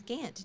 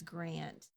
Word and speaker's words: Gant: your last name name since it's Gant g a n t that is a nice name know how to spell it you know how to spell it no in case you needed to know how to spell it I do want to know how to spell it now people often think it's Grand isn't it's interesting how